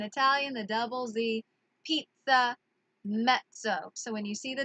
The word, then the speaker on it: mezzo: medium size in Italian that M would be met so okay it is spelled M e ZZ o met so so that comes from the double Z alright in Italian when there are two Z's back together back to back then it makes the